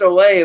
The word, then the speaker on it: Ole: he's like well I know his name is pronounced Olay but we didn't really look him up we